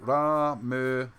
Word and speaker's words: Ramesses: And then you read the first part, that's how you say it, Ramasses.